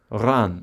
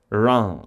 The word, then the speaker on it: Reims: Ran.